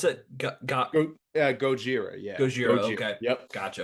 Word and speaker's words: Gojira: biased because I'm a Godzilla fan but Godzilla Gojira 1954 I'm gonna is that how you pronounce it Gojira yeah goir okay yep gotcha that is the